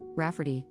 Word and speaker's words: Rafferty: I tried to explain that no one will pronounce that as Rafferty and she'll probably get plenty of the same misprononunciations.